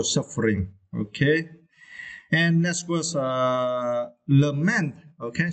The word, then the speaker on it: lament: And next was lament, okay. You also need to stress the second syllable, right?